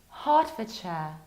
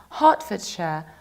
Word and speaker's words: Hertfordshire: it like Ford, but when it's a part of something bigger, you need to reduce it. That's why this county is pronounced like Hertfordshire, Hertfordshire.